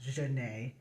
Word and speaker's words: Janet: my character is Jan it's spelled Janet but it's pronounced Jana um and they're just